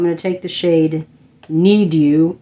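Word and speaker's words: Knead U: to take the shade need you or ned you like netting bread is kind of how it's spelled k-n-e-a-d-u i'm gonna take that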